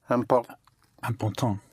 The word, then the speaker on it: important: Important would be Important. important. Yes. Important. Important. Yes. The IN and IM is pronounced un.